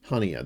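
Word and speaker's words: Haniyeh: from uh almadine English uh isma Han hania hania that's how you say it isma hania assassinated and who is isma hania uh so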